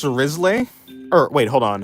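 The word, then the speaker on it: Wriothesley: It's pronounced Risley.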